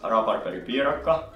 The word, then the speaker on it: rabarberipiirakka: Rolling of the R's that I can't do.